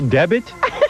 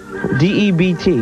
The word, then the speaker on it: debt: A special debit? Debit? Spell the word. D-E-B-T. All right, now spell it out.